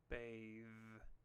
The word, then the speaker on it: bathe: then note John's help the e at the end of bathe is silent let's try it again repeat bath bathe the word bathe uses the pronunciation of the diaph th called a voiced sound this is a sound where we use our vocal chords to produce the sound look at the picture